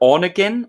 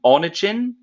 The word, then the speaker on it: Onegin: It's either Onegin, Onegin. Oh yes, I was reading about it. I couldn't tell you how to pronounce it. Onegin.